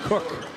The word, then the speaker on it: Koch: Riley Mulvey turns it over, and Jacob Cook. It's spelled Koch, K-O-C-H, no relation to Cooper.